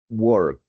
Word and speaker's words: worked: Este es un sonido no sonoro, work. Work. Cuando termina de la palabra work, mi garganta para de vibrar. Por esa razón el sonido es t, entonces sonaría worked. Worked.